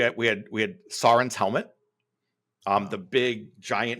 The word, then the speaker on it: Sauron: And I didn't know how to pronounce Saurin. Now you notice I'm doing it right now. I was saying Sauron until we're in the little studio